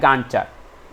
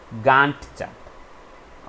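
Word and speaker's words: Gantt chart: करते हैं जिसको हम लोग बोलते हैं गांड चार्ट इट्स गांट चार्ट ओके नहीं तो अभी कमेंट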